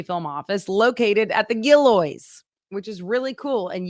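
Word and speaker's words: Gillioz: a Southwest Missouri film office located at the gillo which is really cool and yes that is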